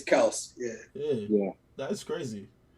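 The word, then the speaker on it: Kelce: he did you know we've been saying kelsey's name wrong the whole time yeah it's kels yeah yeah yeah that's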